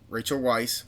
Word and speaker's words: Weisz: Jim introduced Rachel Weisz.